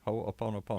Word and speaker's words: Ho'oponopono: Ho'oponopono. Ho'oponopono. Did I say it right? Ho'oponopono.